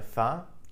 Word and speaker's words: faim: In French, vous avez faim, are you hungry? Note that faim, F-A-I-M, is pronounced as faim.